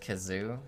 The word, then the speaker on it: Kazu: cute parts made worse kazu's pronounced kazoo in lebanese leukelian luknish